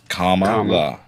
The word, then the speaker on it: Kamala: say her name again Comm la like the punctuation that Donald Trump frequently forgets to use in truth social comma that's fair um so